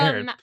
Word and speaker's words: Herod: I know I said it wrong, but Well, I just I know you learned, said it wrong, know, too. I really honestly had because it's Herod.